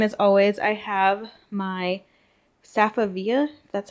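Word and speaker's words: Safavieh: And same as always, I have my Safavia, that's how you say it, rug from Ashley's.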